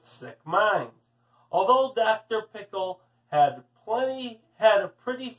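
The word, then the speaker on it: Pickell: pickle actually his name was dr. pickle with the accent on the second syllable but that wasn't why everyone called him dr.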